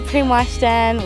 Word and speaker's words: Primošten: So we went to Primošten, is that pronounced right? Yeah. So we went to Primošten, we went to Tribuni, that was really nice, and we've had a nice harbour there.